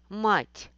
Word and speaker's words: мать: Слово «мать» обозначает «mother». Слово «мат» обозначает «defeat in chess game». Разница в том, что в первом слове стоит мягкий знак, и «т» читается мягко.